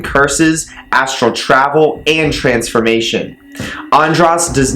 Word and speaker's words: Andras: undress okay so here we go so undress pronounce and Ross works good in groups as in breaking them up andris can help you defeat a group of people